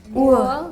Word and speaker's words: Uhr: Uhr. You don't pronounce the R too hard Okay. there. R is like half silent.